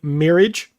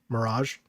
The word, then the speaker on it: Mirage: it actually looks really cool um Assassin's Creed marriage there you go so you don't feel bad Mirage got him Tekken Eight's looking great dude yeah